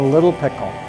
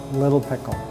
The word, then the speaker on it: Lil' Pickle: Mesa is oldest sandwich shop the way we pronounce it here is a little pickle without the TT little little pickle which is kind of splitting hairs but little pickle the original owners Jim and Ted decided to